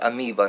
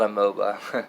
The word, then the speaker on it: amoeba: But it's amoeba, not amoeba.